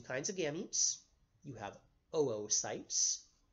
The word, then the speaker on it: oocyte: You have oocytes, which is spelled O-O-C-Y-T-E, oocyte. You pronounce both O's separately. It's not oocytes.